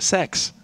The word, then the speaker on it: sex: Sweden guys the letter the number six rather not the letter is pronounced sex which leads to a